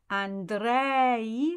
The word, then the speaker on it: Andrei: Andrei, so dre is the emphasized one.